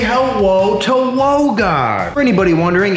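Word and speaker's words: Logan: Say hello to Wogan. For anybody wondering, it's spelled L-O-G-A-N, but pronounced W-O-G-A-N.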